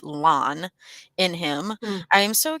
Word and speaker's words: Lan: Annie Danny replied to Katya saying, Nico seems to have so much land, or I keep saying land, but the audiobook pronounces it lawn in him.